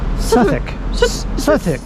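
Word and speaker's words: Southwark: it's a sou Cathedral I think you pronounce it sethwick it says experience the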